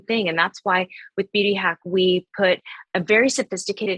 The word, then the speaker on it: Beauty HAC: And that's why we're called Beauty Hack, not only because we've attached the rollers to the serums, but it's different. It's spelled H.A.C. without the K, so it's Beauty Hack, and that stands for holistic and clinical.